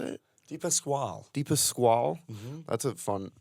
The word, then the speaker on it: Dipasquale: Dipasquale.